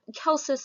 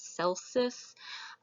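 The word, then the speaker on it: Celsus: just go with that kel says sometimes you'll hear him pronounce celsius i prefer the hard c that's how it works in latin the de medicina his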